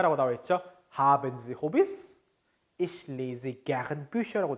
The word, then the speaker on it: Hobbys: 근데 이제 독일어는 있는 그대로 읽습니다. Hobbys, Hobbys. 그쵸? 조금 귀엽죠, 발음이.